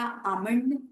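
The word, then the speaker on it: almond: या बादाम वाला आमंड, उसमें भी L साइलेंट।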